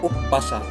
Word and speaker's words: Umpasa: dalam bahasa Batak dikenal sebagai Umpasa bacanya uppasa sekian penjelasan kesenian Melayu